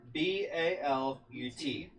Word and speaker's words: balut: Sorry if I mispronounce this. Balut. Sounds familiar. B-A-L-U-T.